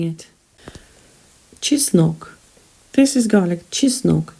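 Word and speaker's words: чеснок: gribby practice saying it chisnock this is garlic cheese milk cheese and nok she snoke the stress falls on the second syllable there are only two syllables in this word cheese no just knock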